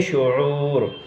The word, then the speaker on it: شعور: ہے وہ ہے پست۔ شعور، شعور، شعور، تو صحیح ہے شعور۔ درخت، درخت اور درخت،